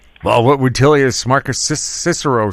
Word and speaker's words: Cicero: Uh there is a wonderful quote on the financial markets by Cicero or if you were a Roman then it of course you pronounce it as Kickaro and he pointed out